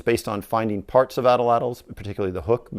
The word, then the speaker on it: atlatl: What is an Atlatl, you may say? Properly, in the Aztec Nahuatl language, it's more closely pronounced Atlatl.